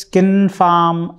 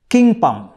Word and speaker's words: Kynpham: more easily pronounceable names many non-cassie friends have only managed to call me king pum kimpan kingpin fyan fiang and so on the worst distortion was